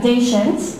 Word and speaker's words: Daichendt: We haven't had one in a while, so we're really excited to have Linda Daichendt, rhymes with patient.